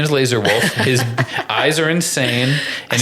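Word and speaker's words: Lazar Wolf: I'm sorry to all my listeners for not saying the name Laser Wolf enough. It's pronounced that way.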